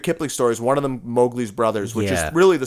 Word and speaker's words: Mowgli: But even the pronunciation, because Disney butchered according to the Kipling family, they butchered the name. It's Mowgli. But yes. in this movie, they call him Mowgli, and they're Right.